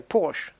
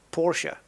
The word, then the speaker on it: Porsche: Because you'll find very few people working at Porsche who will say Porsche. They'll pronounce it Porsche because that's how it is.